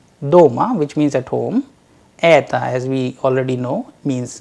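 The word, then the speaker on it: это: In the word eta, which means this, the vowel sound a is under stress and the unstressed vowel o is pronounced as short weak sound, eta, though we have used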